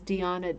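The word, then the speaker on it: Deana: now and they're using my name which is deanna david uh and it's spelled like dina d-e-a-n-a it's a bad spelling i had no i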